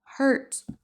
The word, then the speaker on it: hurt: Attention à la prononciation. Hur c'est on prononce pas du tout le U.